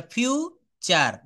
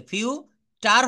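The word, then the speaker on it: future: যেমন এফ ইউ টি ইউ আর ই এটা ফিউ চার। দেখেন চলে আসছে। ফিউটার হবে না।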